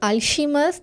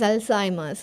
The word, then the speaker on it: Alzheimer's: paracetamol okay yes auu Alzheimer's disease Alzheimer's for when we are writing a name like alz disease it's not alimer this is Alzheimer's okay so before you